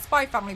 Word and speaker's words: Spy x Family: It's called Spy Family, but it's spelled Spy X Family.